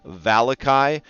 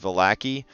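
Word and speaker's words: Vallaki: We're gonna be working on the village of Valakai. Raw, it's pronounced Valaki.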